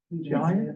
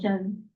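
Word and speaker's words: Jian: Giant? It's one syllable, Jen, Jen.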